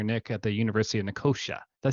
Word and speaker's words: Nicosia: at the University of Nicosia? Did I say that right? Is Yeah. that how you pronounce it? Nicosia. Nicosia. Oh, it's actually Yeah. pronounced like it's spelled.